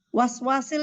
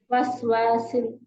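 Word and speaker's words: الوسواس: Itu shin apa sin? Waswasil itu sin apa shin? Sin. Ada titiknya, betul? Waswasil. Sin, Bu. Enggak, bukan shin. Shin. Makanya jangan bacanya tadi waswasil gitu bacanya.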